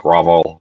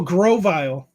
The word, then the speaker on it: Grovyle: What's it, Grovol? How do you even pronounce that? Grovol? Grovol? I don't know what Pokemon you're trying to say. Oh, from this generation, Quaquaval. No, Trico's second evolution. Oh, Grovyle.